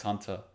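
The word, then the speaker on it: Hunter × Hunter: The X in X Hunter. The X in Hunter X Hunter is silent.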